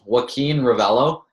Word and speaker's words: Joaquin Revello: So my full name is Joaquin Revello.